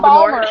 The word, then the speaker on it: Baltimore: You don't pronounce the T, or we know you're an outsider. And I pick on that a lot too, like with newscasters, like they'll say Baltimore, and I'm like, you're not from here.